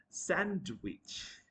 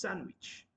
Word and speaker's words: sandwich: which is sandwich not sandwich D will not be pronounced sandwich can I have a